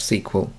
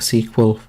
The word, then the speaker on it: SQL: u e l sql as in a sequel of the terminator film so sequel or you